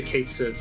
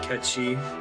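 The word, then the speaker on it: Cait Sith: monster egg button it's pronounced catchy it's a Gaelic creature I'm not allowed to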